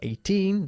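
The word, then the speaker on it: eighteen: okay 18 and 80 we emphasize the second syllable of 18 the the and the first syllable of 80 or CH okay I'm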